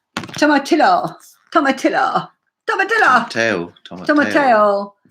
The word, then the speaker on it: tomatillo: pronunciation right. Tomatillo.